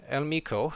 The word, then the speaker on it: El Miko: So El Miko apparently is how you pronounce it, so we'll go with that. He can correct me if I'm not correct, but that's how he's told me that it's pronounced, so I'll stick with that pronunciation from now on.